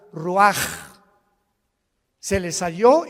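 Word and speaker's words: Ruach: Roach así como suena se pronuncia la c en hebreo como J ruaj se le só y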